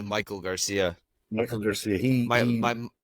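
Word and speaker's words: Maikel Garcia: But if is it Mackle Garcia, Mackeel, how do you pronounce it? It's it's basically Michael Garcia.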